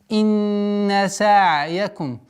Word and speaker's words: سَعْيَكُمْ: Инна са'якум. Как мы на предыдущих уроках говорили, а правила таджвида, они повторяются, они стандартно неизменяемые. При остановке над звуком айн не надо резкая остановка. Са'яка. Нет. Такое плавное. Са'яка.